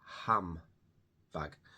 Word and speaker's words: handbag: So to make sounds easier, instead of saying handbag, we often say ham-bag.